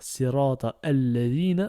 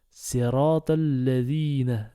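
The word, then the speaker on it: صِرَاطَ الَّذِينَ: On va pas dire sirata alladhina, on va dire sirata alladhina directement. Là, le alif ne se prononce pas.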